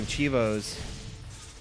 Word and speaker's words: cheevos: Got them cheevos. Cheevos. Rhymes with Cheetos.